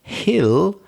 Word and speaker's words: hill: So hill, we pronounce the H.